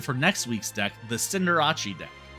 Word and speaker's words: Cinderace: And also let me know if you're excited for next week's deck, the Cinderace deck. I know it's pronounced Cinderace. I don't care. It's Cinderace now.